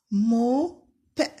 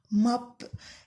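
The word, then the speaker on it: mob: الاو ممكن في الامريكان اللي هم البريطانيين الامريكانيين بينطقوا الاو فتحه، زي هات، ماب. المهم بينطقوها اكتر ما هي او، لكن احنا بنشتغل بالبريتش او بالبريطانيين، فهي موب. ممكن ناس تانية بينطقها ماب، على حسب اللغة، على حسب الاكسنت اللي انت بتنطق بيها.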